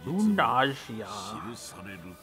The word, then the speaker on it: Runersia: Find it weird they pronounce the S instead of Sia as Gia. Runersia.